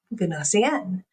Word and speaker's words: Gnossienne: This piece of music is called Gnossienne. You might be thinking, what is that? How do I spell that?